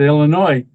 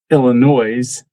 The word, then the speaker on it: Illinois: And notice how I said Illinois. There for a while I was calling it, I'm not going to say, Illinois's. I I was pronouncing the S.